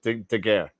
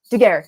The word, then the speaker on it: Daguerre: Wait, how did you pronounce it? I forgot. It's a Daguerre. Daguerre, yes, thank you.